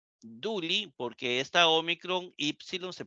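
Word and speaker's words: δοῦλοι: esclavo Pero si yo escribo y omicron yota duli duli porque esta omicron yon se pronuncia u duli eso significa que es plural ya no es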